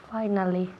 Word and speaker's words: finally: Finally. Good, repeat again. Finally. Very good. Finally. Finally. Okay, so finally. F-I-S-I al principio se pronuncia como si fuera una A-I.